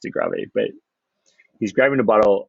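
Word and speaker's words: De Grâve: which by the way that looks like grave it might you know i think it's pronounced degravy but he's grabbing a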